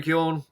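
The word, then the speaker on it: Keoghan: and i know that usually in irish the g is silent when there's a gh so he just [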